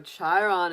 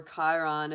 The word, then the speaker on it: Chiron: So Chiron is coming up, or Chiron if you don't pronounce it as a CH, but look at that for you, Pisces.